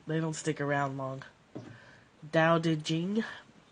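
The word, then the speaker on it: Tao Te Ching: don't stick around Long Dow Jing the t's sound like D's da de Jing and the CH sounds like a kind of a a CH and a j combined so um so yeah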